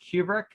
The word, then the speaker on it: Kubrick: It's pronounced Kubrick.